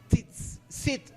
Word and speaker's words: tzitzit: Cada una de estas 4 esquinas estaban conformadas por unos flecos o bordes, o tzitzit. ¿Lo sabes pronunciar bien, pastor?